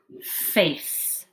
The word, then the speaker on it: face: like an s but a c can also make that sound when it has an e coming after it and that e makes the a say his name face then make the face